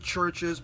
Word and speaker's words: Chvrches: They put a V in there, but still you pronounce it Chvrches.